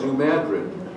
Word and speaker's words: New Madrid: miles from there okay and New Madrid is pronounced New Madrid New Madrid correct okay I got that one